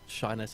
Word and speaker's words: Shiness: It's Shiness. I think Shinies. they pronounced it as Shiness in the Shiny.